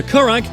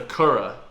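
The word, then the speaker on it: currach: the buoying of coracle known as the korak is one of the oldest surviving form of boat in Europe correct it's the Kura the Kura someone with pronunciation like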